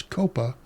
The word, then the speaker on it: COPA: what's now known as COPA, C-O-P-A, which now is an almost 30-year-old community-based community organizing coalition. What does COPA stand for? COPA. Communities organized for relational power in action. So the R is silent.